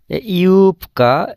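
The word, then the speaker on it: юбка: ইউপকা, এখানে কের আগে বে আছে, এই বের উচ্চারণটা পের মতো হবে, কারণ এখানে ভয়েসলেস এগুলোর কিছু নিয়ম কানুন আছে।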